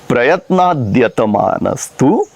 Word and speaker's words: प्रयत्नाद्यतमानस्तु: पहला ही शब्द प्रयत्नाद्यतमानस्तु। प्रयत्नाद्यतमानस्तु, ये एक ही शब्द प्रयत्नात्, यतमानः और तु, इन तीन शब्दों की संधि से बना है। प्रयत्नात्, यतमानः, तु। और उच्चारण कैसे करेंगे? प्रयत्नाद्यतमानस्तु योगी संशुद्ध किल्बिषः।